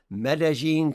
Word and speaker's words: Medellín: I'm the president at Passion Life, and we're also joined today by Anderson Ocampo, who is joining us from Medellín, Colombia. Did I pronounce that correct?